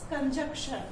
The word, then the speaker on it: conjunction: Number 5 adverb, number 6 preposition, next is कंजक्शन। इसको बहुत सारे लोग कंजक्शन बोलते हैं, बट इसका प्रोनाउंसिएशन या इसकी स्पेलिंग क्या है?